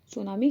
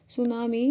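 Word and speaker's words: tsunami: सबसे कम सेंसिटिव है सुनामी क्या होती है सुनामी को टी सुनामी टी से लिखा खा जाता है स्टी साइलेंट है सुनामी एक जापानी शब्द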